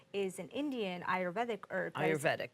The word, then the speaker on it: Ayurvedic: Ayurvedic, that's how you say it.